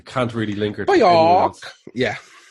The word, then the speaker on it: Björk: I can't really link her to Björk. Yeah. That's actually nearly how you pronounce her name properly, I found out the last few days.